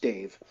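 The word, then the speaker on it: Dev: His name is spelled D-E-V, and it's pronounced Dave.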